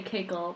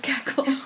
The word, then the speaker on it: KaKel: got on board with cackle well i think because it was wren who came up with it and she did it because it's supposed to be pronounced like c-a-c-k-l-e because we're always cackling which will probably there